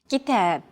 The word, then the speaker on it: كتاب: كتاب. كتاب. Notice that the second syllable is stressed. It's pronounced longer and louder, while the first and final syllables are shortened.